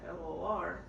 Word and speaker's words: Flor: because of my name, the way it's spelled Flor, in Spanish it's flor. It's an actual flower. That's what it means. But then when growing up, I just always went through the fact, oh, you're Flor, like the floor, right?